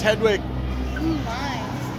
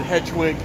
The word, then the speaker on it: Hedwig: everyone left their luggage here oh it's Hedwig Chileans like resisting temptation of pronounce it hedge wig is we're here at he finally we